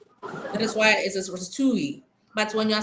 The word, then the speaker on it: ratatouille: It's not pronounced in the English context. It's pronounced in French. That is why it is ratoui.